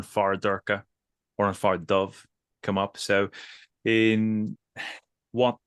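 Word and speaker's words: dubh: Or dove meaning black. The old pronunciation being do.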